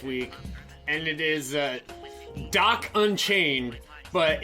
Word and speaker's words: Djoc: and it is uh doc unchained but it's spelled dj oc i don't need that the j is silent you know what i